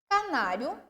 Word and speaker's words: canário: Canário é uma proparoxítona. Ca-na-ri-o. O na é a sílaba tônica.